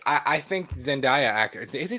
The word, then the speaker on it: Zendaya: i don't know bro you say sendai one more goddamn time i swear to god i don't know love her i just don't i've i've always said it wrong um zendaya there we go she had actually said